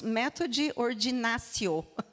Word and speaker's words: Methodi Ordinatio: Methode Ordinatio foi um nome que eu fui lá, busquei e, na verdade, descobri bem recentemente que nós pronunciamos Methode Ordinatio, tá?